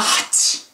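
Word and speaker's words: はち: Nana hachi. Like you sneeze there.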